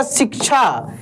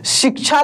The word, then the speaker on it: शिक्षा: जैसे आप लिखेंगे ना शिक्षा। क्या लिखेंगे यहां पे? शिक्षा लिखेंगे। तो यहां पे देखिए क का उच्चारण यहां पे हो रहा है।